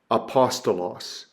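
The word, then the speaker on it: ἀπόστολος: one you have is a smooth breathing Mark and it's the word for Apostle so it's U apostos apostos notice no added U no added pronounciation to that it's just an alpha but we have the word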